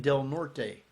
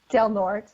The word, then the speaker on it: Del Norte: this haunted hotel in Del Norte. In Colorado, we say Del Norte. We don't say it correctly.